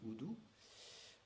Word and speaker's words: udu: Ça s'appelle, ça s'écrit udu, mais ça se dit oudou.